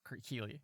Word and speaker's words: Keely: I don't think I said Keely, but it's pronounced Keely.